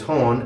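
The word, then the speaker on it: هون: palestinian arabic is again that's horn with the soft h and a long o sound hon now remember that in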